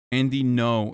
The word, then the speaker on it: Andy Ngo: and not because they're like asian sex workers andy no is how you pronounce his name let's keep watching seven of